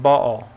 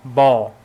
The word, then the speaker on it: Baal: Well, you're pronouncing it Baal, like two syllables, so sounds like the second syllable is Al or El. No, here I do mean to just be Baal, the name, rather than... So the Baal doesn't have a connection with El? No, in the Hebrew you have a different consonant to separate them out for you. We just don't pronounce those consonants in English, so it gets lost.